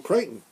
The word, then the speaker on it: Crichton: kind of been the michael crichton rhymes with frightened of course okay now